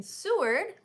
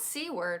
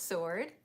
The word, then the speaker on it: Seward: the winter it is located in Seward not seaward which house we were pronouncing it before and then we were correct and we're like oh it's sword yeah pronunciation here in Alaska